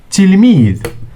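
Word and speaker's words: تلميذ: A student is tilmid.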